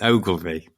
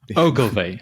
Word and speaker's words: Ogilvy: There's actually a video on YouTube that helps people pronounce Ogilvy. So it's Ogilvy. Ogilvy.